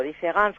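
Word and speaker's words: différance: En francés no se advierte, différence con E o différence con A suenan exactamente igual y solo se diferencian en la escritura.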